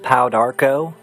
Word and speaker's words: Pau d'arco: pow Darko is a miracle elixir of longevity good for providing the body with total Harmony I'm talking about this glorious goodness right here it's pronounced pow Darko and we're going to talk